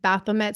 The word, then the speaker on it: Baphomet: And then another social media post said the portrait depicts, I know you can pronounce this better than me, Bom, Baphomet?